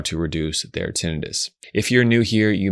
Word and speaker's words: tinnitus: Now, some pronounce it tinnitus. As an audiologist who trained at a major hospital in San Francisco, I learned that most doctors pronounce the word tinnitus.